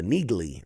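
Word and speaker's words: Neagley: Uh uh the Nigley, right? Niggly, that's how you say her name.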